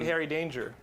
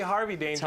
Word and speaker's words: Henry Danger: I'm Harry Danger. You never say it right. I always say Harvey Danger, like the Harry, song from the 90s.